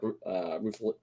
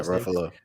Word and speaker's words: Ruffalo: But I mean, but like for these smaller tier people, like Mark Ruffalo, that's how you say it. Yeah, Ruffalo.